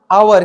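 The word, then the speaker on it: hour: क्या पढ़ेंगे बाबू बोलिए आवर क्या पढ़ेंगे आवर एच यहां पे साइलेंट है एच साइलेंट है तो यहां से हम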